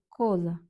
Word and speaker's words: cosa: І перше слово у нас коза. Наголос на о. Коза означає річ, предмет.